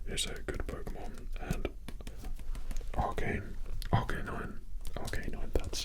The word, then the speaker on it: Arcanine: Okay, Magma is a good Pokemon, and Arcanine, that's how you say it.